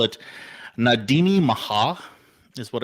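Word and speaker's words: Na Daoine Maithe: usually in like Irish so they call it nadini Maha is what it's called and that's how you pronounce it because I do my research but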